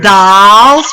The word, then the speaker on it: dolls: Ankle, We talked about number 29, dolls, trolls. They both have OLLS, but they're different. The vowels are pronounced differently.